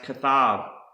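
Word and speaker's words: כתב: And the last word I want to show you is pronounced kathab.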